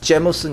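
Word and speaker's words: Jameson: 더 있어 아이리시 위스키 제임슨 원래 발음은 제머슨 이더라고 한국 사람이 읽을 때는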